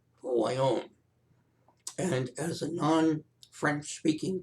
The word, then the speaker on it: Voillaume: how to pronounce it it's tricky in french v o i l l a u m e who i own and as a non-french